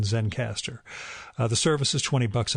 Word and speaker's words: Zencastr: That is spelled Zencastr, so no final E in Zencaster.